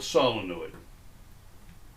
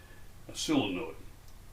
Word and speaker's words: solenoid: of iron coil of wire is called a solenoid or you can you can pronounce it the way we used to pronounce it in my childhood days in the deep south a solenoid but it is spelled solid okay so a